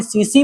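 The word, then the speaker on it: tsetse: इसका वाहक करती है एक मक्खी जिसका नाम है सीसी मक्खी। क्या नाम है? सीसी मक्खी है भाई साहब। यहां पर टी साइलेंट है। टी क्या है? साइलेंट है यहां पर।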